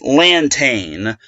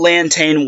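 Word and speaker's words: Lantagne: at the applause button okay her pronunciation is pronounced LAN tain so Nicole Anton Welch so big shout to UCSB s women's volleyball website frothing the pronunciation so Nicole LAN tain Welch reached 100 wins when it came to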